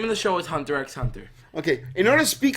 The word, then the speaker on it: Hunter x Hunter: You got Hunter x Hunter. Well, Hunter x Hunter, but the X is silent.